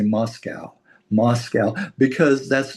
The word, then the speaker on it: Moscow: Moscow. because that's not and somebody said one time they said there are no this is how you know how to say it. There are no cows in Moscow.